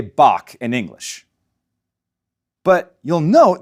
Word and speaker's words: Bach: of johann's maesta veyaka just remember you're listening to bach not bach the tongue bunches up in the back of the mouth and air gets pushed out and over it the result is a low raspy sound now you try it